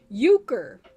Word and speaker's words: euchre: Euchre is how it's pronounced.